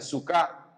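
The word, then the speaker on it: סוכה: le conoce como tabernáculos esto viene de un vocablo hebreo que se pronuncia suca en singular o sucot que es el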